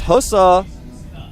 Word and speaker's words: Hosa: A member of the team, and it's Hosa. A strong Protoss. It's Hosa, man. Is it really? Yeah, it is. Right. People just say it wrong.